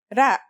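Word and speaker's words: ر: first letter is ra its closest english counterpart is the letter r but it's a different sound that must be learned ra it's not too hard to pronounce though right note how it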